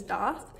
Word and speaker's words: daith: that before but i think the more correct pronunciation is doth and that's how my piercer said it so i'm gonna go with doth now you can see from you know i